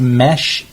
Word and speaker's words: Mesh: I believe it's pronounced Mesh, M-E-S-H, Hong for the last name.